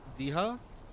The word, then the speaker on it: villa: Outcast, villa in Spanish says vija, like the English word villa, but you sound out.